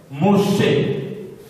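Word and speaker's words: משה: Et en hébreu, Moïse s'écrit de cette manière. Moshe, Moshe, Moshe.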